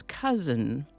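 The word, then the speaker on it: cozen: Today's word is cousin. This one, as you might notice, is spelled C-O-Z-E-N. It's a completely different word from the kind of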